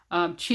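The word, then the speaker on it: qi: what the ancient chinese medicine calls chi alright chi is spelled q i and it basically represents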